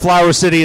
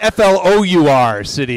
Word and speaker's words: Flour City: That's Flour City, by the way. Oh, Flora. Am I pronouncing it wrong? Is it flower? No, it's There's flour. Okay. That's you say, yeah. I'm just, I guess I'm saying it like flower.